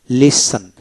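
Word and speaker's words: listen: তারপর লিসন, লিসন LISEN লিসন তীর উচ্চারণ হবে না, লিসন, লিসন মনোযোগ সহকারে শোনা, মনোযোগ সহকারে শোনা, লিসেন্ট, লিসেন।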